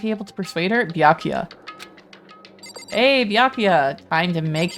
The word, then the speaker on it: Byakuya: What the Oh, B mispronouncing Baku. Byakuya. Oh god, now I'm going to start saying Bula. It's It's Byakuya.